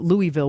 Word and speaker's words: Louisville: that when somebody mispronounces I grew up in Louisville so when people call it Louisville we know you're not from there so Mary town near